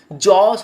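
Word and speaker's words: jaws: জস হচ্ছে চোয়াল। জ উচ্চারণটা জ এর সঙ্গে এস হওয়ার কারণে এটা হবে জস।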